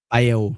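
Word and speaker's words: Bayle: The ship uh Bale Domen Bale.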